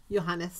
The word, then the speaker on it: Johannes: yo yo how do you say that name Johannes Johannes thank you who is the Imperial mathematician